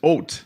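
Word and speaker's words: Haut: taking this back it's it's oat it's not ooh it's oat giants come on tell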